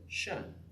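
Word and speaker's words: شأن: It's because actually many of the Arabs didn't pronounce it sha'an. They pronounced it shan.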